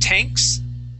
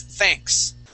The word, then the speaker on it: thanks: Let's practice our TH sound on this word. You had said tanks. Okay. The word is thanks.